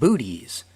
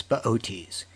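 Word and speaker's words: Boötes: in the lap of baotis if you saw his name spelled out you'd want to pronounce it booties but it's beauties he's got a big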